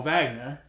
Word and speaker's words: Wagner: in the NBA Mo Vagner Oh Magnus it's magner how do you spell what huh you pronounce Wagner with a V yes it's German oh he's not an